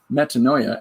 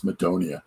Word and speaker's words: metanoia: to pronounce it um am I saying it right yeah metanoia all I knew it was medonia um so we've got